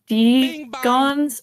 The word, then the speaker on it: Degon: random let's go for degon oh I'm not pronouncing that right at all you actually are no you said it right degon degon like yeah that's it poison him thank you very